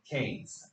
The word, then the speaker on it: Keynes: One of them is John Maynard Kanes. Anybody ever heard that name before? It looks like KE or something, but it's it rhymes with heard that before? Yeah. what he so John Mayor Kanees was a is a British economist uh who